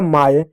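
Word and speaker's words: my: अगला शब्द है एम से होगा म वाई से आय होगा हो जाएगा माय जैसे पढ़ते हो ना बाय ट्राई माय तो यहां पर वाई का उच्चारण आ के रूप में होता है ठीक है प्यारे बच्चों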